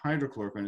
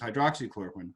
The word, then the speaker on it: hydroxychloroquine: And I mean, I noticed right away when they mispronounce it and they call it hydrochloroquine. No, it's not hydrochloroquine, it's hydroxychloroquine. Hydroxy means it has a hydroxyl group, OH, oxygen and hydrogen.